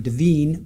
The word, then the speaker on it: Devyn: I believe she pronounces her name Deavine Michaels.